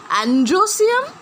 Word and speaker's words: androecium: And androecium and gynoecium. Remember the pronunciation.